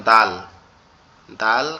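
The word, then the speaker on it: د: দালটা হচ্ছে আমাদের জিহ্বার আগা উপরের দুই দাঁতের গোড়ার সঙ্গে লাগবে, লেগে উচ্চারিত হবে দাল, দাল।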